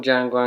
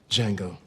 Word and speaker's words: Django: Django. Can you spell it? D-J-A-N-G-O. The D is silent.